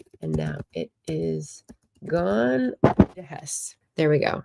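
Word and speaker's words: Heiss: Hess. There we go. Hess spelled H E I S S but it's pronounced that way.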